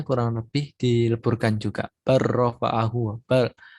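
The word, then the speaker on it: بَلْ رَفَعَهُ: Barrofa'ahu. Lamnya hampir hampir hilang kalau di sini. Bal bukan bal rofa'ahu tapi barrofa'ahu.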